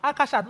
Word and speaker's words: Akashat: I took a lifetime of fight and correct to say, it's Akashat, not Nimota.